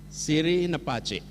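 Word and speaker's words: Siri' na Pacce: Siri Nepace. Betul pengucapannya?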